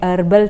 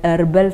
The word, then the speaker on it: herbal: two examples there wherein you say herbal tea some people will say it as herbal tea the h is silent and the others will say that h okay honorable okay so that's